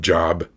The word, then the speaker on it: Job: job j o b it looks like job but pronounce job why I don't know